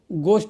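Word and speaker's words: ghost: होता घोष होता है यानी जी एच जहां पर भी हो एच का उच्चारण नहीं होगा घो नहीं होगा जी का गो ग बोला जाएगा तो उसके चलते घोस्ट क आ जाएगा घोस्ट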